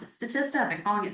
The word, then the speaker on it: Statista: I recently learned they pronounce it Statista. I've been calling it Statista for years.